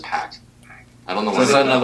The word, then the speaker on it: Park: Wait, how do you say park in Korean accent? It's just pack.